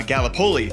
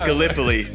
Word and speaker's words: Gallipoli: right, because being from Iowa, I said uh Gallipoli, and it's it is pronounced Gallipoli.